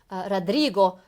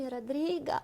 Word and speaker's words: Rodrigo: in English, but in Russian, I think the pronunciation was Tomaka. Да. Something like that, yeah. Yeah. And that man from Latin America, Rodrigo, always was complaining while he was here, why do they call me Rodriga?